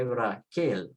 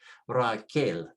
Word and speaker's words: Raquel: Remember the Q is pronounced K, U is silent, and then you have A-L, A-L, so you say Raquel. Stress the last syllable because it ends with a consonant, Raquel.